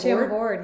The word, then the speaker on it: Chambord: Chambord, yeah.